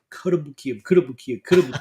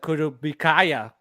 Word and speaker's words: Kotobukiya: I had the same thing with Kotobukiya, and I was like, Kotobukiya. Like, I was like forcing it in my head because I had to do a video for them, and I was like, I had to say it right. But so when I first got into collecting, I was like Kotobukaya. Yeah. I was like, what the hell? That doesn't sound right.